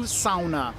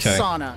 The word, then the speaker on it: sauna: when they go to sauna that's not sauna it's sauna okay sauna sauna is the Brazilian Portuguese pronunciation sauna um so you guys